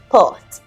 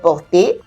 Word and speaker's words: porte: All right, last sounds are mostly not pronounced. Les trois petits cochons entrent vite dans la maison de briques et ferment la porte, not porter.